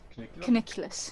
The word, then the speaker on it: Cuniculus: Cuniculus.